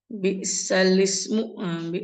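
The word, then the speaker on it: بِئْسَ الِاسْمُ: Jadi jangan dibaca bi'sal ismu, bi'salismu. Bi'sal ismul fusuqu ba'dal iman. Bi'sal ismu. Nah, kan awalnya bacanya bi'sal ismu, dibaca bi'sal ismu. Jadi bacanya bi'salis ya, bukan bi'sal ismu ya.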